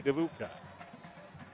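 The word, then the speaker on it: Dedbukaj: of the night Danny devooka my problem is that it's spelled d-e-d-b-u-k-a-j and uh your North American announcers are not really used to seeing the consonant combination of D followed by Avi Uka pulls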